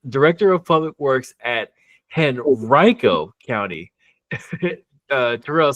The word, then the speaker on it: Henrico: When you look at it, it says Henrico. Tell us the story behind that. Yeah, it's pronounced Henrico County, and we're real sensitive about that here.